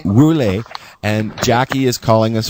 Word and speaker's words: Woerlee: Is that how you pronounce it? Yeah, Woerlee. Woerlee.